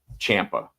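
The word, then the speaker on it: Ciampa: Champa. That's how Champa says it. So, say it say it right.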